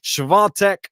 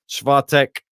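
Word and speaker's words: Świątek: it uh justice so wait and see on that schwa tech uh yeah i believe that's the correct pronunciation i'll get it right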